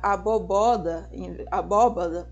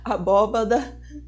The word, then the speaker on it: abóbada: Pois é, são crimes como pronunciar alejar em vez de alejar, pronunciar bandeja ao invés de bandeja, pronunciar abóboda, desculpa, em vez de abóbada, pronunciar caranguejo no lugar de caranguejo.